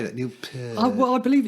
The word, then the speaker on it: Peart: things that he said he would pronounce it pete right but that's the sort of canadian accent yeah the purpose of